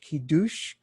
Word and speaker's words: Kiddush: the word kidush here which i didn't k-i-d-d-u-s-h ki douche it's a toast to shabbat and that toast